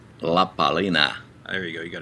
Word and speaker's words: La Palina: what are we doing the how do you pronounce it la palina la palina there you go you got a good focus